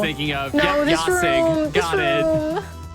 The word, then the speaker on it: Jasig: So it's called Yasig. That is spelled Jasig.